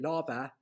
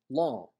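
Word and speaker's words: lámha: school learners would say lava lava um is pronounced in kerry law law with the nasal vowel where the mha disappears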